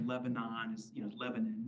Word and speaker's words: Lebanon: with Town names like Lebanon is you know Lebanon so you hear on the radio today in Lebanon New Hampshire we all laugh because nobody says Lebanon they also get in